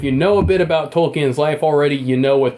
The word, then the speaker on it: Tolkien: Tolkien. Tolkien.